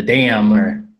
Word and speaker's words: DAM: the DAM, what the DAM is, and probably somewhere before there talk about what arbitration is. Sure. So DAM, which is how you say it, that's how I always say it, because I feel like